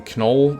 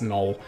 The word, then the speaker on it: Knoll: three we have null I usually call him Canole that's just my pronunciation a lot that pissed off a lot of guys I know it's Knoll and of course we